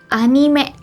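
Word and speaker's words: アニメ: tapi masalahnya disini adalah ada satu orang yang jemputnya anime 10 sebutnya Enim Yuwita gue banyak banget loh satu anime gitu ya animation mungkin habis sebenarnya kalau yang isi yang Betulnya gitu apa sih sebenarnya kalau dalam bahasa Jepang istilah yang Betulnya kalau dalam bahasa Jepang itu disebutnya adalah anime anime anime ini tuh sebetulnya Kenapa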